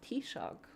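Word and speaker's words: Taoiseach: Like T-Shock. Who's your leader? He's T-Shock. It's lovely. Um and and and it's spelled in an absolutely bastard crazy way, too.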